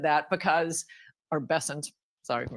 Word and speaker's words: Bessent: Um, it's funny that Bent said that because or Bessent, sorry for mispronouncing his name.